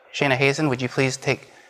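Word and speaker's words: Shayna Hazan: Shayna Hazen. There you go, rhymes with raisin.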